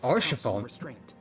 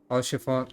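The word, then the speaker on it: Haurchefant: too or chiffon there's the h is silent back to my uh notepad for the way to pronounce things all chiffon has a silent h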